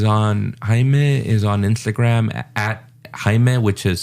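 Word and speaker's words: Xaime: think Hae is on Hae is on Instagram Hime which is spelled x a i m e h and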